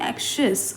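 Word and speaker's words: anxious: गए अनहिडिंग द क्लांस ऑफ़ हर एक्शियस I pronunciation हम क्या बोलेंगे एक्शियस ओके एक्शियस मींस क्या बोला है वरीड अनहिडिंग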